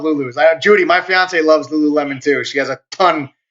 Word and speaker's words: Lululemon: Like Lululemon. Lululemon, Jason, is how it's pronounced.